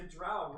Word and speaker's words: drow: As a drow rhymes with plow.